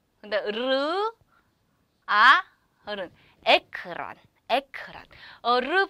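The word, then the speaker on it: ekran: 근데 르아 어른 에크란 에크란 어르 발음 영어의 르 발음과 똑같아요.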